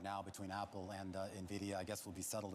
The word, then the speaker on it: Nvidia: yeah the one that so many people didn't know how to pronounce uh up until the last year Nvidia Nvidia Nvidia I go with Nvidia and I think Jensen Hong does too but whatever you want